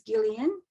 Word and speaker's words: Gillian: rotary her name is Gillian with a hard G like blender I was a 16 year old and couch surfing in Chatswood in 1978.